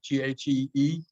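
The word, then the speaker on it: ghee: wants to know can you use am i pronouncing this correctly g g-h-e-e yeah absolutely yep yep you can do that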